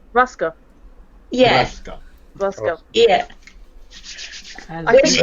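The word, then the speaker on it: broască: It's brasco. Ruska.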